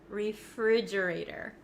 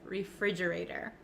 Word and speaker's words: refrigerator: I pronounce it refrigerator refrigerator refrigerator now the ater the T at the end of this word it becomes a flap te in American English that means it kind of sounds like a soft soft